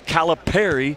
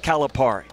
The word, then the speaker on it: Calipari: It's Gonzaga. You and I have said it right all year long. It's not Gonzaga. It's Gonzaga, and it's Calipari, not Calipari. If you take nothing else